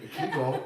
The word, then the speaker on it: Kegel: I mean, Kegel rhymes with beagle.